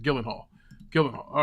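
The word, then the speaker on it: Gyllenhaal: Hall Jake Gillen Hall Gillen Hall that's how you pronounce it Gillen Hall Gillen Hall all right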